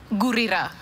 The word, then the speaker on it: Gurira: They had your last name phonetically pronounced, written incorrectly. Could you just say your last name for us? Gurira.